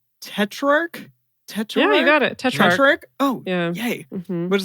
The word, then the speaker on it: Tetrarch: Tetrarch.